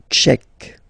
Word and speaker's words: tchèque: La République tchèque. So remember, Q-U-E, k, tchèque.